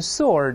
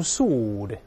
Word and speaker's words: sword: W 是不发音的，读成 sword，我英国人读成 sword。